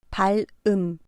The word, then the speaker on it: 발음: 앞 글자 발에 받침이 리을이고 뒤에 오는 글자 음의 자음이 이응입니다. 이 글자는 받침 리을이 자음 이응 자리에 와서 발음됩니다. 발음. 발음이라는 글자는 앞 글자의 받침 리을이 다음 글자의 이응 자리에 와서 발음으로 말합니다.